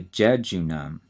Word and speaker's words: jejunum: The second and middle section is called the jejunum, and that is J-E-J-U-N-U-M.